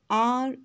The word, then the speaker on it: reigned: His intellectual genius has reigned supreme. R-E-I-G-N-E-D. Here G is silent, so this word is pronounced reigned.